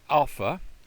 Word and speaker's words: alpha: Has the sound of a and father, ah.